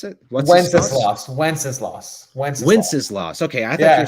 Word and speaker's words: Wenceslas: Is that how you pronounce it? Wenceslas.